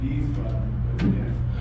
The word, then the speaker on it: Wiesbaden: Is that Weisenbaden? Is that Weisenbaden? Yeah, I believe that's the name of it. I told you my German's a little bad, but this. I think it's pronounced Wiesbaden.